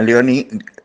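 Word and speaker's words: Léonie Duquet: Y entre ellas, dos monjas francesas, se pronuncia Alice, Domon, y Leonie, se pronuncia Leonie, Duquet, se escribe.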